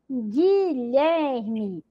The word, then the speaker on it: Guilherme: fica com som de gay mesmo então é pronuncio ó guerra Guilherme detalhe a letra U não é pronunciada Observe